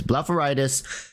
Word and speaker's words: blepharitis: you can search up it's called blepharitis that's spelled with a b-l-a-p-h not b-l-a-f it's blepharitis and uh I had it in my eyes